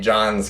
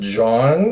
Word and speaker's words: jawn: word and it's pronounced John. I think I'm saying that right. It's more kind of drawn out than like the name John.